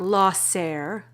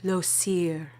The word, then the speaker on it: Llosir: loss heir florence repeats no not lost ser it's pronounced llosir it means flame and if you haven't